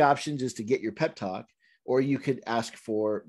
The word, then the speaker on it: Peptoc: a telephone number for pep talks yep pep talks uh they even spell it p-e-p-t-o-c it's called pep talk it's a free hotline